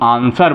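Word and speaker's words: answer: है तो क्या है एस के बाद डब्लू है इसलिए इसको हम आंसर बोलेंगे डब्लू हमारा क्या होगा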